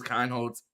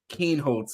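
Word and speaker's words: Kienholz: where the someone comments every time Q says Khan holds and spells it phonetically to tell us his name is Lincoln Kane holds so I'm glad that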